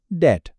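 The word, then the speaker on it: debt: अगर कहीं एम के बाद बी लिखा हो या टी से पहले बी लिखा हो तो बस समझ जाएं। ज्यादातर चांस यही है कि वह बी बोला नहीं जाएगा। वो साइलेंट रहेगा। चल इन मिसालों को देखते हैं। मैं यह अल्फाज़ बोलता हूं। आप बस गौर से सुनिएगा कि इनमें बी की आवाज है या नहीं।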